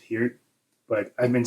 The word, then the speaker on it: Peart: I'm pretty sure it's pronounced Peart, but I've been saying Peart my whole life.